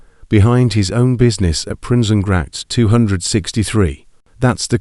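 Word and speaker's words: Prinsengracht: So he built an illegal one behind his own business at Princenact 263.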